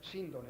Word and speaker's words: síndone: la palabra es decir la fonética según Antonio Rivera eh veraz eh correcta de la palabra es síndone No sone yo he pronunciado el